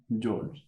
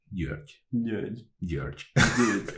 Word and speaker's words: György: Georg. György.